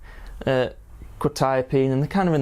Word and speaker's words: Quetiapine: And today we are going to be looking at Quetiapine, or Quetiapine I believe it's pronounced.